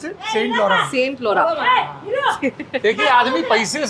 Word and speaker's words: Saint Laurent: how do you pronounce it? Saint Laurent।